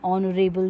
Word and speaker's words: honorable: For example, an aunt, an MA, an honorable job. Honorable job starts with H. That's a consonant, but the pronunciation comes as O.